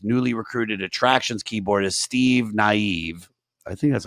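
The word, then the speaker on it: Steve Nieve: so I'm assuming that's naive yeah I mean Steve Neeve what a great name but yeah this is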